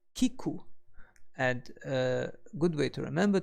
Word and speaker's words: 聞く: hear or to listen we pronounced to hear or to listen as Kiku and good way to